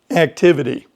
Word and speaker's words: activity: Activity. If you have an activity, you might think that it's spelled idy, but no, it's ity.